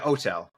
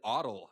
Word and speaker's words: OTel: How do you pronounce it for the shorthand? Yeah, OTel, OTEL.